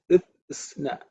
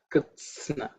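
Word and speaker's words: कृत्स्न: This one is Kritsna, Kritsna. Okay, Kritsna. There are three consonants which are compounded to make that one compound consonant.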